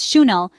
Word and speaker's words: Chanel: elegant world of Chanel it's not Channel or channel the accurate way to say it is schel with a soft HH sound at the start and emphasis on the second syllable then we touched on